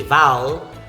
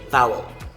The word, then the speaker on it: vowel: Some speakers would consider the letter E after the W as silent, while some would pronounce it as a schwa sound. So you can say vowel or you can say vowel, vowel.